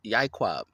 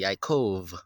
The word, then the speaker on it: Yaakov: So that's Yaquab, but they say Yaakov with a V. There's no V's or biting of the lips in the Hebrew language. So that would be a little bit of a Yiddish sound effect or Yiddish prophetic. We don't bite our lips to pronounce Hebrew.